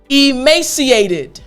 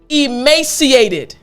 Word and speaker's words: emaciated: of your mouth, but you want to make sure in your throat there's the d sound coming out. So again, id. Excellent. So the entire word after me, emaciated. Excellent. Last time, emaciated.